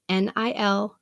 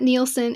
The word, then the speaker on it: Nilsen: Nilsen is Nilsen. It's not Nielsen. It's not Nelson. It's just me and a couple of other people who are Nilsen.